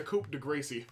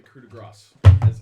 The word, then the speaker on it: coup de grace: Or the Coupe de Gracie. The Coupe de Gracie. Did you know that the correct pronunciation was actually coup de grace?